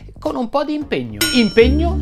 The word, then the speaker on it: impegno: un po' di impegno impegno si pronuncia con la e chiusa impegno così come regno in questo video ti